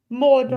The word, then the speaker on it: Mordor: Mordor.